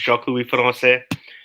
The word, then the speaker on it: Jacques-Louis Francais: So, Jacques-Louis Francais, for the people who don't know how to pronounce it, it's Jacques-Louis Francais.